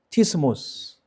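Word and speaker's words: σαββατισμός: 사바브 바티스모스, 좀 발음이 어렵죠. 사브바티모스. 제가 한글에 하나 더 적었네요. 그릭을 읽어보니까 사브바티스모스.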